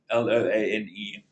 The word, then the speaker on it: Loane: Loan is spelled like a loan from a bank with an E at the end, Loane.